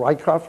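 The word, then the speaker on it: Rieckhoff: Bruce, I think the show started off with a debate between the two, as in the Paul Rykoff, am I saying that correct? Correct. I believe that's how he pronounces his name.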